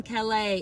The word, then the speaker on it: Kel'a: I am Kel'a. If you are new here, hello. I'm Kel'a. It's spelled K-E-L' long A, okay?